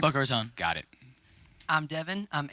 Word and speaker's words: Boca Raton: Boca Raton.